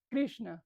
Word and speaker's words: Krishna: Porque hay unas que son, por ejemplo, decimos Krishna, normalmente en Occidente no se pronuncia Krishna, se dice Krishna, es hacia atrás, es retroflexa, Krishna, es Krishna.